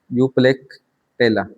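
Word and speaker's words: Euplectella: स्पोंजिला, साइकन, यूप्लेक्टेला, ये pronunciation देख लेना आप, यूप्लेक्टेला।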